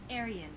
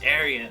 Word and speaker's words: Aryan: Aryan. Oh yes, Aryan.